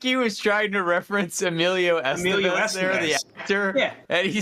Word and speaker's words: Emilio Estevez: I think he was trying to reference Emilio Estevez there, the actor, and he somehow mispronounced his name and called him Emilio Esteban.